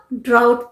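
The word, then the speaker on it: drought: Yeezy H टी यह क्या है इसे हम डाउट प्रस कते हैं सूखा अकाल ज पड़ता है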